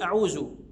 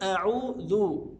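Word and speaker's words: أعوذ: نظر حضرتك الى امرين اولا همزه القطع ا اعوذ بعض الناس يقول اعوذ بالله اعوذ بالله يبقى هنا يعني بيتجاهل همزه القطع لا ا اعوذ بالله وعندي الذال بعض الناس ينطقها يعني يقول اعوذ طيب لا دي كده انقلبت الى زاي امال الصح ايه الصح ان اقول اعوذ طيب الذال هنا عشان تطلع مني صح لابد ان انا احط طرف لساني على طرف الاسنان اعوذ اعوذ طيب وبعدين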